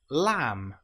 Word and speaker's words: lamb: The B can sometimes come after the letter M. An example might be lamb or comb. Here we don't pronounce the B, we don't say lamb, it's just lamb or comb. The B is totally silent.